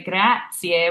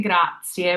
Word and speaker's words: grazie: And keeping that A tall, whether that's an AW or AH for you for your phonetic spelling. We don't want to say grazie, we want to say grazie. We always have tall A's for our A's.